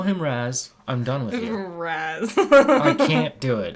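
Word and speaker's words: Ra's: like it's R they it doesn't even look like it should be pronounced Raz like looking at the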